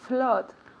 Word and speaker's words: flood: To flood. Good. Repeat. To flood. To flood. To flood. Muy bien. So here it's written with O, con doble O, pero se pronuncia como si fuera una A.